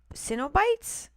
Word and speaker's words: Cenobites: Oh, he says it's pronounces Cenobites?